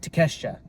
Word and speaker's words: Takeshita: I think I finally said it right, Takeshita. Yeah, Konosuke Takeshita.